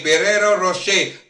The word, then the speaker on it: Ferrero Rocher: Ano bang tama hindi nga pronunciation? Ferrero Rocher. Rochelle? Okay. Ferrero Rocher.